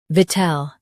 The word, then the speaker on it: victual: Both US and UK have the same pronunciation of this word, VICTUAL. Now read the syllables shown on the screen naturally. V, tel, VICTUAL. Stress vit and keep ul soft.